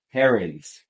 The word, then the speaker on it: Herons: I believe I pronounced that right. Herons, actually.